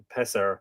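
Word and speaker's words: Pisear: of Annie spear with pisser I it's it's both p-i-s-e-a-r but the pronunciation is apparently pisser so I'm just going to say passer so don't take the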